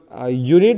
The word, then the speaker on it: unit: and because unit is pronounced like unit, yeah, we take an article when it is pronounced like unit, we take an article because U is a consonant sound.